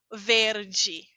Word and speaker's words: verde: Por exemplo, quando está ao final, quando a gente viu boa tarde, aí está. Aqui também é um exemplo, verde. Ao final, eu digo de.